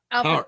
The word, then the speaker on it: Tauri: Tari or Tori? Tari.